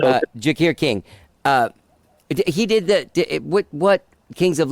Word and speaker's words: Jacquire King: Okay, so you reach out to how do you say Jaguar King? Jakir. Sorry, shit. Yeah. Okay. No, it's okay. Jakir King.